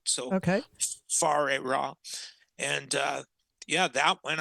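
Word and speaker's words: Whare Ra: lot of people say weah but because it's in the Aboriginal language in New Zealand it's the wh is pronounced like an F like as in food so okay far ra and uh yeah that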